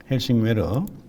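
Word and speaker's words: Helsingør: 이 위쪽으로 이렇게 갔는데 헬싱웨르 여기 사진에 보면 이렇게 헬싱웨르가 있어요. 바다로 이제 요렇게 이제 제가 지나갔는데 그 장면이 이런 것들 발음이 정확한 발음은 왜라고 해야 되는데 괴라고 했죠.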